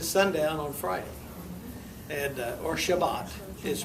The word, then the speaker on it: Shabbat: Because their Sabbath begins at sundown on Friday and or Shabbat is pronounced in Hebrew.